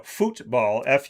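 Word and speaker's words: fútbol: But the funny thing about soccer, which is known to the world as football, football, Futbol, with the accent on the U.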